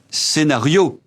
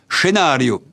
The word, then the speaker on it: scénario: D'une part à l'oral, on le prononce à la française avec l'accent tombant sur la voyelle final. un scénario, on ne dit pas un scénario.